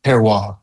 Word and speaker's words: terroir: It's terroir. Very, very peculiar French term.